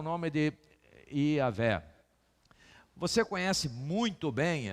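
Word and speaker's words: Jah: Alguns falam aleluia em alguns outros lugares, porque é J-A-H, que é e no hebraico não tem a pronúncia do J, por isso que é I.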